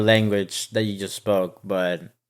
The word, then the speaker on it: bière: a pel logger will be opening right now can't wait oh this is actually you said it wrong it's actually B I took Spanish in